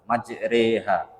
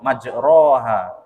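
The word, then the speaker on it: مجريها: Jadi Ali bin Abi Thalib bacanya cak itu, diajari Nabi Muhammad bacanya cak itu, majreha. Nah, diwariskan lagi ke sahabat Nabi yang lain, Ibnu Mas'ud beda lagi. Ternyata Nabi Muhammad mengajari ke Ibnu Abdullah bin Mas'ud majroha.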